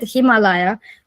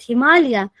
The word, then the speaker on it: Himalaya: local local pronunciations because we say it Himalaya and I said okay we but we are saying it Himalaya and it is it